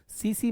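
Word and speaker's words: tsetse: देखिए, एनाफिलीज मच्छर, सीसी मक्खी, यानी कि ये लिखा हुआ है जापानी शब्द है, तो टी को साइलेंट रखेंगे। सीसी मक्खी बोलते हैं इसको।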